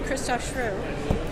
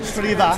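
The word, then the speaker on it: Christoph Schrewe: came in and with the director of that episode, Christoph Schru, whose name I know I'm Shriva. mispronouncing. Christoph Shriva. Looks like Shrew.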